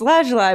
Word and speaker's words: lazuli: I've never known how to pronounce it, but It's lazuli, but I really love.